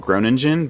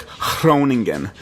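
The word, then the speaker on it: Groningen: called groan engine but like the way you say it is like they like pronounce their G's like huh and then ours are like rolled so it's like thrown again thrown again and I kept saying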